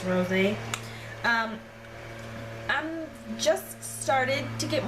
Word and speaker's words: Rosé: There's an accent on the E, so it's Rosé.